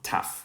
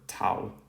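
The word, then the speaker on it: ταυ: like a t incorrect it's um taf or tau and that is a t sound and you've noticed here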